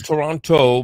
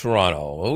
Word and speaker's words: Toronto: from Toronto Canada and we have to get to Toronto pronunciation correct Toronto Canada uh you probably think it's Toronto but it's Toronto we won't get into